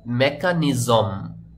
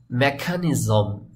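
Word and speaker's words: mechanism: না শব্দটির উচ্চারণ হবে মেকানিজম মেকা এখানে ক এর মত কিন্তু উচ্চারণ করলাম এম ই সি এইচ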